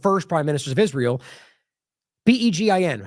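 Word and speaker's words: Begin: one of the first Prime Ministers of Israel beegi how I what is it it's behen I don't know why I'm forgetting that right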